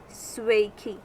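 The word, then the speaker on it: sveiki: but hey swaky swaky in larvian language it is said sway key hey hey infinite finnish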